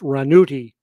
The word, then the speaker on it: Ranucci: This one is Renato Rascal, whose stage name was Renato Ranucci, pronounced Ranuti.